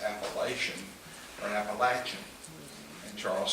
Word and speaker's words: Appalachian: And if you don't agree with that, then you know that our wise and greatly involved state legislature passed a law last week that the correct pronunciation was Appalachian, just like Charles said.